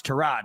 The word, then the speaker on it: Tyrod: It was kind of like when we all called Tyrod Taylor Tyrod Taylor and then he came out and was like, "No, it's Trod."